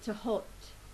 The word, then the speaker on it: Thoth: Okay, today I'm using the Thoth Tarot. Some people pronounce it as Thoth, Thoth, or Thoth, but in Arabic it is actually Tahot.